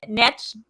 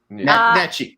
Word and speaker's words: Nietzsche: Nietzsche, Crowboy, is a big fan of Nietzsche. Nietzsche. It's not Nietzsche. It's spelled Nietzsche.